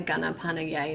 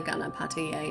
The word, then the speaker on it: Ganapataye: Om Gana Ganapanaye Namaha. Om Gana Ganapanaye Namaha. Om Gana Ganapataye Namaha.